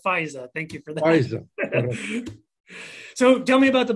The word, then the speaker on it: Fajza: Fajza.